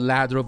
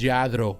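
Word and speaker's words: Lladró: that's where the word comes people call it Ladro but the the real way to say is jadro that's how you say it to pronounce it yadro is a company that has been in business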